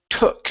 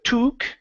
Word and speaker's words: took: first up we have the word took instead of toque okay give me an uh sound it took her a